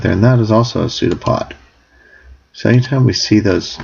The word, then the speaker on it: pseudopod: which are called um pseudo pods a pseudo pod with silent P um are basically cytoplasm